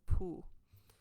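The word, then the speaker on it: pū: for a conch shell, but we call this pu. And so it's spelled Pu.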